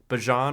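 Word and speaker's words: Bijan: Um, but it looks like uh it looks like the top was Saquon Barkley, Derrick Henry, Bjon Robinson, because that's how you say it.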